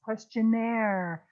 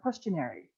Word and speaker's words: questionnaire: When you say the word questionnaire, you can see its French roots. It's questionnaire, not questionary.